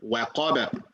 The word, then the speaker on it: وقب: You cannot say al-falaq, khalaq, waqab, waqab. That's another way. I mean, that's another way that, of course, we should avoid, right? Waqab, fil uqad, hasad. This all not the right way to say it. The proper way of saying it, al-falaq, khalaqa, waqaba, al-uqad, hasada.